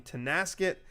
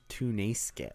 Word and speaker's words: Tonasket: And RSB is playing number 13 Tonasket in the opening it's pronounced Tunasket. Sorry, Tunasket. And then the winner of that will play either number 5 Liberty or number 12 Toledo.